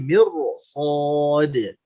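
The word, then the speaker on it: مِرْصَاد: Inna rabbaka labil mirsad. Bukan mir, tapi mirsad.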